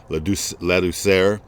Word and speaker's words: Ladouceur: And Ladd, who I'm going to call Ladd because I probably will mispronounce his name, but it was Ladouceur. I think is how you pronounce his last name, but everybody called him Coach Ladd.